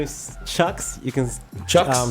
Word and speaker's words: CHXXX: It's pronounced Chucks.